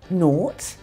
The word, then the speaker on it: nought: Here are some more words with this sound. Nought, like the number 0.